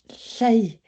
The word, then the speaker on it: Lleu: Hello, my name is Lleu, which rhymes with grey.